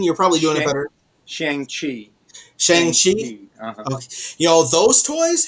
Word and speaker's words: Shang-Chi: Don't know if you've been to a Target lately, but Shang-Chi, or how did you pronounce it, Dean? You're probably doing it better. Shang-Chi.